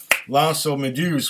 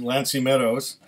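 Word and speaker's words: L'Anse aux Meadows: they ended up in L'Anse-aux-Meduses, which is really mispronounced by the Newfies as Lancy Meadows.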